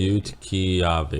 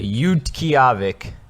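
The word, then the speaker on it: Utqiaġvik: Let's hear it pronounced. Utqiagvik. Utqiagvik.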